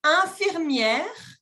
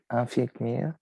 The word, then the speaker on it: infirmière: est jardinier image numéro 10 cette personne est infirmière infirmière infirmière sculpteur sculpteurteur ou bien chauffeur chauffeur chauffeur